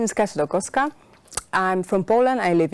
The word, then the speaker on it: Kasia Dolkowska: So my name is Kasia Dolkowska.